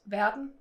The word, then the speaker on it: Verden: So world in Danish is Verden. Yeah, that's pretty straightforward. Yeah, like I think you do pronounce the D and and the E just have an E sound again.